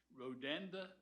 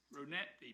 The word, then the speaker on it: Rodanthe: How do you pronounce Rodanda Bridge? Rodanthe Bridge, which is a $145 million design build contract awarded in January 17.